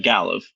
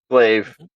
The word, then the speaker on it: glaive: But it as I'm missing, it just slices off part of them doing minor damage with the galliva or however that's pronounced. Glaive.